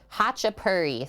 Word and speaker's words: Khachapuri: georgia too i guess hacha purry thank you for telling me that the k is silent which i wouldn't have known we're making hachipari today